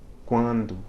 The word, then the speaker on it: quando: of a word, but at the end of a syllable, right, closing a syllable, it nasalizes the preceding vowel, sort of like the M does.